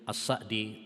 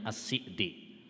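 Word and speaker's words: السعدي: Berkata Syekh Abdurrahman bin Nasir As-Sa'di rahimahullahu ta'ala, atau sebagian membacanya As-Si'di dengan mengkasrah, ya boleh dua-duanya. Hanya yang masyhur saat kita dulu belajar di sana, yang masyhur adalah dengan menfathahnya.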